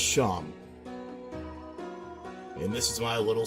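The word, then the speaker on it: Seam: The name's Sham, pronounced Sham.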